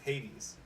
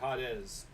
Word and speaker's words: Hades: hadas instead of hades it's like it's hades guys it's hades and i was the only one who would call him hades other people would be like hoddez okay know that's how